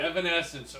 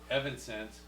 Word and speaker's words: Evanescence: but but you want you want him to pronounce it right right Evanescence Okay evan sense Evanescence okay Avenged Sevenfold and